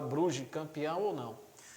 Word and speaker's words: Brugge: líder do campeonato belga o bug bugue né brugge bruges na verdade pela pronúncia belga será proclamado campeão nacional